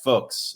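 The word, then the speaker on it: Fuhs: Tyler did some did some double-checking for us and it rhymes with books. So, if you've kind of picked that up from how he's saying Jack Folks.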